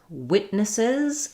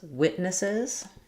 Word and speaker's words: witness: So first we have in witness, we have first syllable stress. Letter I says the I sound. And I don't release this T. So I don't say witness, but rather wit. I stop the tongue for the T, and then I go right into the N sound. Witness.